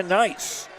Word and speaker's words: Neis: 18-4 jumper right baseline good by Maya Nice. Her first basket, and it's 20-4. NEIS, but it's pronounced nice.